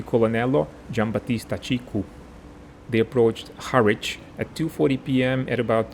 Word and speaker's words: Harwich: for some strange and completely unexplainable reason, it's pronounced Harwich. The bombers belonging to the 99th Gruppo were led by Tenente Colonnello Giambattista Cicu. They approached Harwich at 2:40 p.m.